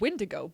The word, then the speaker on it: Wendigo: They just pronounced it Windigo, but it is spelled Wendigo. Wendigo.